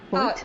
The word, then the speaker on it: Hoyt: So let's go to Sarah Hoyt. I'm probably mispronouncing your last name, Hoyt? Hoyt? No, it's perfectly normal. It's Hoyt.